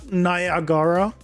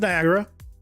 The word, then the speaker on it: Niagara: Why is the second a note pronounced by the way? Why is it not Nagara? Why is it Niagara?